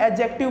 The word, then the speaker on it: adjective: तो यहाँ पे हम डी ना बोल के सिर्फ हम एडजेक्टिव बोलते हैं, लेकिन ये डी का साउंड आता है और कई लोग इसे प्रोनाउंसिएट करते भी है।